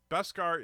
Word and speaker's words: Beskar: Beskar is 2 syllables, not 1.